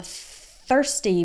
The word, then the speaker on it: thirsty: another good one I'm thirsty remember to to do that th with your tongue between your teeth thirsty okay so thir it's just like in the word third like third place third ste ste ste